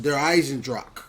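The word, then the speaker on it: Der Eisendrache: pronouncing it wrong but she said you pronounce it D Eisen Dr that's how you pronounce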